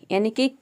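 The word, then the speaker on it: unique: pronounce करते हैं क जैसे कि यू निक यहां पे देखिए य का यू हो जाएगा एन का हो जाएगा न आई का हो जाएगा ई और क्यू यू ई इन तीनों का हो जाएगा क पूरा हो जाएगा यूनिक यूनिक का मतलब होता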